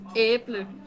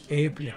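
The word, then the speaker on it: æble: It's like when you say apple in Danish, it's äpple. Äpple.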